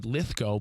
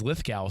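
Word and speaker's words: Lithgow: He was on our show and he's like, you know, it's actually Lithco, but everyone says Lithgal.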